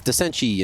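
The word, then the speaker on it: decenty: I have been told multiple different pronunciations. Okay. You know, someone, I remember back at the RMRs, they did some investigation. I think it was Veracity, and one of their friends said, oh, yeah, it's Desenchi.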